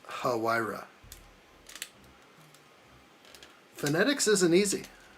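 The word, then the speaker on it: Huayra: According to Fellerish, it is huh hu. Okay. So, it's hira.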